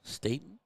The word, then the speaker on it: Staten: Staten? Staten. Yep. Hard A. Staten. Oh. Hard A in there.